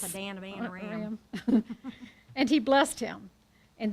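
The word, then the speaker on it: Paddan Aram: Pandam Aram. Say it like Rosanna, Dana. Yes. Padana, Aram.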